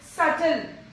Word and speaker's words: subtle: Subtle. It is subtle.